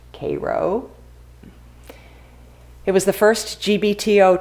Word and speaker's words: Cairo: in cairo new york spelled cairo pronounced cairo it was the first